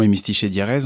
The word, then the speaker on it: Hémistiche et Diérèse: Déjà, vous l'avez bien prononcé, c'est déjà pas mal. Le spectacle s'appelle effectivement Hémistiche et Diérèse.